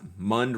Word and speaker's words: Mund: Last Mund rhymes with fund.